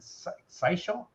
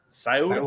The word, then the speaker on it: Scioto: He says, Old Stone here, 2 polls for us here in Southern Ohio, Pike County and Sisho. I don't know how to say it. Scioto County.